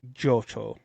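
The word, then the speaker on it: Jyocho: Yeah, Jo.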